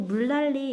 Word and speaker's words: 물난리: 자, 그리고 물난리 이것도 우리 교과서에 있었던 예시였는데 물난리 리을과 니은이 서로 만나면서 유음화가 일어났죠.